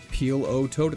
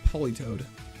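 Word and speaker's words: Politoed: Peel o toad. It's polytoad.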